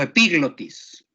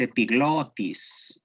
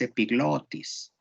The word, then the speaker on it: epiglotis: ¿Quién dijo epiglotis? Quien haya dicho epiglotis la pronunció mal, porque no lleva acento gramatical. Es epiglotis. Vayan al diccionario de términos médicos. Es epiglotis.